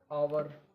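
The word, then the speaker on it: hour: आवर, आवर में भी H silent है, देखिए यहाँ पे।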